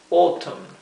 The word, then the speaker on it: autumn: Autumn. Aquí nuevamente vemos la O y la U juntas se pronuncia O. Autumn, para otoño. Y se pronuncian también la M y la N.